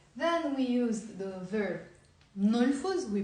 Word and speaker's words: نلفظ: It's not نلفظ. It's 2 syllables. It's نلفظ. M and N together.